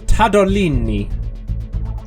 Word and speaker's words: Tadolini: Can you spell that out? Because I couldn't tell whether you were saying tad or cad. I certainly can spell it out. T-A-D T-A-D-O-L-I-N-I. Tadolini. I'm going to say that is neither.